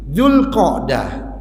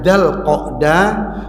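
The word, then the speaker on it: ذو القعدة: Dzulqa'dah, boleh bacanya Dzulqa'dah, boleh bacanya Dzalqa'dah, boleh bacanya Dzilqa'dah.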